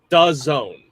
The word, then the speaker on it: DAZN: It's DAZN.